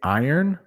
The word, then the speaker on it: iron: So when I say iron, I think of this. It's like when you work, you earn money. So if you can say earn, I know that R might be hard, but it's I earn. I earn. Iron.